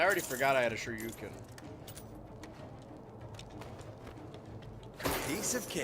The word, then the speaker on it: Shoryuken: Maybe I am on baby mode, because I already forgot I had a Shoryuken. Piece of cake. Pronouncing Shoryuken like turducken.